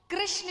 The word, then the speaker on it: कृष्ण: नाम रखा गया कृष्ण कृष्ण कहने में जीभ घूमती है बोलो घूमी जिसकी नहीं घूमी गलत बोल रहा है सही उच्चारण करोगे तो घूमेगी तो भगवान का नाम